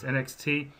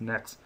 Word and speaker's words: NXT: I've talked to Andreas before, and I've heard him refer to it as NXT, but the correct name for it is Next. It's spelled NXT, but it's pronounced Next.